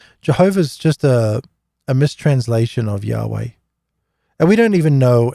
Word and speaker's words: Yahweh: Jehovah really comes about from the King James Version because they mispronounce they pronounce the Y as a J. So Yahweh, Jehovah, and then it became Jehovah.